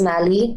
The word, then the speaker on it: Mali: way you like but the actual pronunciation is mali like sally but mali it has